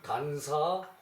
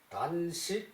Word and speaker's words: 단사: 기타제 수하야 수하야 그 단사 호장이 저기이 가는 저기 대나라 위에 대나무 죽자 붙여 놨죠 그죠 대나무 그릇 대그릇 대그릇 이제 그 밥사 식이라고 읽어도 괜찮아요 단식 호장 호장은 호리병 호요 장은